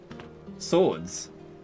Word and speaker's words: swords: Also, the weapons that they carry, they're called swords. I don't hear that W anywhere.